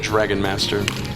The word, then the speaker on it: Dagron Master: He actually pronounces it Dragon Master. Yeah, but he spelled it Dagron.